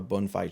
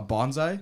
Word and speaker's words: bonsai: Uh, a bonfire tree. A what? What? I might be saying it wrong. It's the trees. Uh, a bonsai.